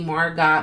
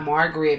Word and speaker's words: Margot: places because people always say my name incorrectly Margot Margaret maggot a whole bunch of not not Margot okay not Mar with the T so I always say